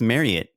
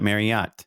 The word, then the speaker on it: Marriott: marriott hotels and did you know that it's pronounced marriott not marriott it's been a really hard adjustment but in